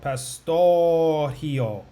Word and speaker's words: Pastorgio: Pastorgio. The R's in Portuguese are pronounced like H's. So pastorgio.